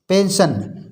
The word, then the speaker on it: pension: जैसे पेंशन, PENSION, पेंशन। पेंशन में होता है वृत्ति। पेंशन रिटायरमेंट के बाद प्राप्त होती है। तो पेंशन, इसमें देखिए सा पढ़ा जा रहा है, सा सीटी का, पेंशन।